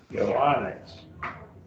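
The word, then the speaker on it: Ἰωάννης: Eoanes. 3 syllables. Eoan. Got 4 syllables in that word. Eoanes. Eoanes. Eoanes. And the 2 news don't get pronounced in the same syllable. Remember that? Ioannes.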